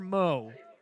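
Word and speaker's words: Meaux: so here comes taylor moe mo spelled like the cajun version as that one spins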